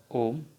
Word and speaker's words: Om: So it is Om. That is the one way of pronouncing this symbol.